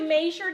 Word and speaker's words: measure: After you measured it and washed it?